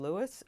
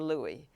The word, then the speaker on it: Louis: a number of people did he pronounce his first name Lewis or Louie and I got different